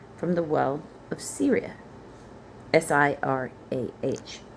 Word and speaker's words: Sirah: Sirah, not like the country.